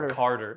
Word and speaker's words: Carter: don't talk like that but if you're sou you say Carter like with a d Almost you know Carter like card how do